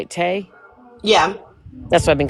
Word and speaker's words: Tay: Um, and Tay, is that how you say it, Tay?